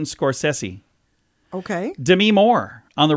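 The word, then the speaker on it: Scorsese: how you'd say it Martin scorsi that's how we say it he introduces himself as Martin scors sessi okay Demi Moore on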